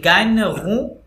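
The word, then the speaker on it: gagnera: ইল জিএন আছে না দেখেন জিএন, তাহলে ওই ন সাউন্ড আসবে, ইল গাইন রু, ইল গাইন রু লো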